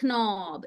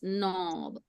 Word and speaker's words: knob: color no and B so mark your sounds N O and B knob don't say knob it's knob okay all right now